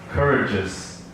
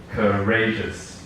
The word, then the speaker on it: courageous: have come people monotonous Courage's it should be courageous yeah it's a mistake business they can make people make without knowing that it's putting the stress on the wrong syllable so it should be